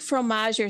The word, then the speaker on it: fromager: If it ends in ER, you do not pronounce the R.